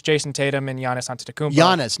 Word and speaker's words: Giannis: Tatum and jannis Anum Yannis not Giannis Yannis jannis I said it right and your presence for